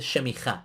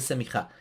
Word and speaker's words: semijá: que paréntesis ordenación rabínica no se dice shemijá, se dice semijá."